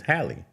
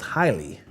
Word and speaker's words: Halle: I know it's not Holly Berry. It's Hie. Hi. Halle Berry.